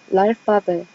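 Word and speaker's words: l'alphabet: 일단 알파벳인데 이거를 알파벳이라고 안 읽더라고요. 그러니까 저는 ABCD는 그대로 읽을 줄 알았는데 좀 많이 다르더라고요. 그래서 좀 어려운데 이 L이 붙은 거에 대해서는 다음 발제 때 이것도 차차 설명할 거고, 이거는 관사예요. 관사인데 나중에 설명을 할 거고, 일단 이거는 랄파베 이렇게 읽어요.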